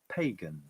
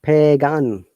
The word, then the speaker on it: pagan: again guys pagan pagan and there's a schwarzenegger amazingly if you can see the phonetic in a composition after g this a has a short sense of pagan so it is not pagan it's pagan okay belonging or relating